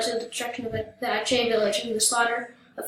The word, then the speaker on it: Aceh: In 1873, the Dutch attacked the Sultanate of Aceh, pronounced Aceh, an independent kingdom on the Indonesian island of Sumatra, in order to take control of the region's lucrative black pepper industry.